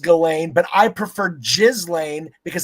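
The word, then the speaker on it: Ghislaine: Uh which is the uh more on the Jizlain Maxwell. Uh you always say it wrong. It's Galain. I know it's pronounced Galain, but I prefer Jizzlane because I disrespect her.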